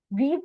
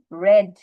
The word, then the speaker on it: read: কারণ রিড যে ওয়ার্ডটা আছে, READ, V1, এইটার V2 V3 same same, V1 V2 V3 যা আছে তাই, শুধু উচ্চারণ চেঞ্জ হয়। মিস দেখছো, ওখানে কিন্তু বলছিলাম শি রেড the book, not রিড the book.